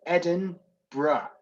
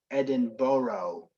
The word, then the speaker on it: Edinburgh: pronounce edinburgh it's um edin bruh or edinburgh whichever you prefer edinburgh or edinburgh is not the one thing it's not is edinboro edinboro it's not edinboro it's edinburgh so so do you